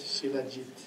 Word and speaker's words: Shilajit: Okay. Sheila, S-H-I-L-A, Jit, Sheila Jit.